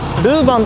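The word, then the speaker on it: Leuven: ルーベンに到着しました。日本ではルーバンと発音されることが多いんです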